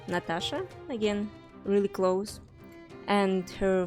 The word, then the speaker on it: Natasha: aside Slavic cultures Natasha her name is pronounced Natasha again really close and her full name would